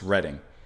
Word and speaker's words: Reading: Oh and one of you had said that the album title uh the reading part is actually pronounced reading. Um I believe after a place so reading writing and arithmetic.